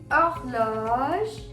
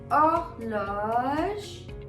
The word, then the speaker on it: Horloge: H as a letter has a pronunciation ash. But when it comes to words, H is always silent. Like over here. Horloge. I'm not hearing the pronunciation of H, rather I'm hearing the pronunciation of O.